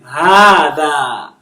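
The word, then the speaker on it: هذا: So this is ha, and this is another alif elongating. Hada. So this alif is elongating the ha, and this other alif is elongating the da.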